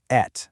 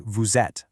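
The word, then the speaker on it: vous êtes: You don't say vet. Nope. You actually link them together so it sounds like vuzet with a z sound.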